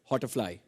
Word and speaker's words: Hotterfly: Well, next is Jinal Bhatt from, the question is for Sanjay sir, and it's Hotterfly, if I'm pronouncing it correctly.